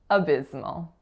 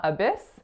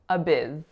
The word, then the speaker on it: abysmal: So don't be fooled by the letter S. It's not abyss, it's abiz.